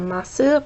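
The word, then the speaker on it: ます: And masu is often pronounced like mas instead of masu, but you can also say kikimasu.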